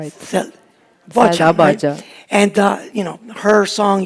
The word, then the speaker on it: Bağcan: from uh Turkey named Selda How do you pronounce her last name? Selda is right. Sel Bağcan And you know, her song Yas Gecesi Yas